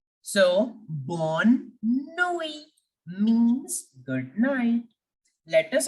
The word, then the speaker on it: bonne nuit: Please don't forget this very important rule that generally in French language, the last alphabet remains silent. Generally, not always. Sometimes we have to pronounce the last alphabet also, but majority of the time it remains completely silent.